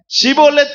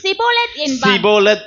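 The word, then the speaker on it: שיבולת: சீப்பா ஷிபோலத் அப்படின்னு சொன்னா அவன் என்ன பதில் சொல்றான்? படிங்க. அப்பொழுது அவன் அப்படி உச்சரிக்க தெரியாமல் சிபோலத் என்பான்.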